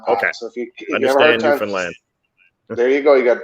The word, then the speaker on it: Newfoundland: it's pretty uh it's newfoundland so the easiest way i say it is uh is that you say understand newfoundland and uh then you you've got it down okay so if you understand newfoundland there you go you